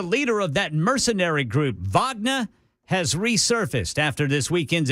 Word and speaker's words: Wagner: confess which everybody knows I'm not pronouncing that word the Russian way I'm saying Wagner but it's Wagner isn't it yeah I mean it's Wagner that's the that's the Russian way to say it yeah yeah it's a